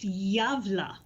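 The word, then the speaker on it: Gävle: So, as you may be aware, the Gabble Goat is a holiday tradition in Gavla, Sweden. YouTube says it's pronounced Javla.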